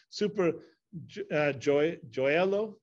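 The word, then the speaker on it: Supergioiello: But luckily, I think the way it's pronounced is super gioiello, super gioiello.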